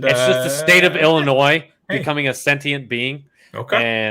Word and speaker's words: Illinois: all to fuck off because you pronounce the S on the end. It's just I don't really know. I wish I had an answer for you. Is it, it's just the state of Illinois becoming a sentient being.